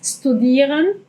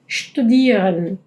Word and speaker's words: studieren: ejemplo, studieren, o sea, no es studieren, studieren. Las palabras que empiecen con st o sp, como sport, van a ser pronunciadas como como si fueran como la sh del inglés, eh tienen ese eh sonidito en vez de ¿ok?